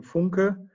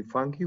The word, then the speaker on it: Funke: explains well hello everybody my name is FUNKER the English way to pronounce my last name would be funky which sounds much better I think so come funky